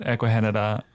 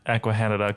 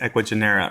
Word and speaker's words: Ecuagenera: so when when we first met you at eahan uh you pronounced eahan correctly however that's the first time I think